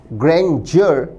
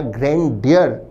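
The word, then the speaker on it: grandeur: हमारा आंसर होगा डी ग्रेंजर या ग्रैंड डियर दोनों तरह से उच्चारित होता है यह शब्द ग्रेंजर या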